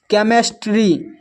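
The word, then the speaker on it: chemistry: Character फिर है केमिस्ट्री। केमिस्ट्री में भी एच साइलेंट है।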